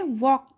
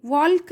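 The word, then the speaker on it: walk: यहाँ पे एल क्या है? हमारे स्पेलिंग में तो एल है पर हमारे प्रोनाउंसिएशन में एल नहीं है। हम प्रोनाउंस जब करते हैं ना तो तब हम एल का साउंड नहीं लेंगे क्योंकि एल ये साइलेंट है। तो हम इसे क्या पढ़ेंगे, वॉक पढ़ेंगे।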